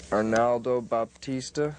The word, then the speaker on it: Arnaldo Baptista: thank you thank you very much yeah okay Arnaldo Baptista is that how you pronounce his name that's it where I said